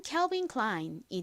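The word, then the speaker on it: Calvin Klein: 아니라 I 소리가납니다 그리고는 니은 소리 나니까 연결하면 캘빈클라인이 되죠이 브랜드 이름은 창업주의 이름에서 따온 것으로 알고 있는데요 보통 독일어의 경우이 아이를 아라고 발음을 하는 것으로 알고 있는데이 빈 클라인은 독일은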